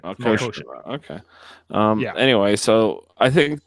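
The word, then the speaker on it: Melkotian: Melconian. Yeah. I can't pronounce it. Melkoshian. That's it. Melkoshian.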